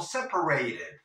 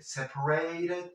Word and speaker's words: separated: they live separated o separated. Sí, esta T la puedes pronunciar como una R suave en inglés americano, y en inglés británico, como lo que es una T, separated or separated.